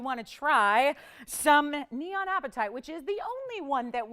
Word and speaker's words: apatite: that we call neon apatite. It's spelled A-P-A-T-I-T-E. Not like the kind if you haven't had dinner and the tummy's rumbling. Not that kind.